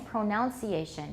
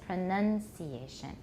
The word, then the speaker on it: pronunciation: A lot of you are saying pronunciation, but it's pronunciation.